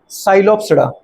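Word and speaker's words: Psilopsida: तो सबसे पहला है क्या, साइलोप्सिडा, पर वो उसमें दीदी बात करें क्या साइलेंट है, पी, पी साइलेंट है।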